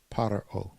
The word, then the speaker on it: פרעה: Pharaoh is the proper name of Pharaoh and can also be pronounced Paro.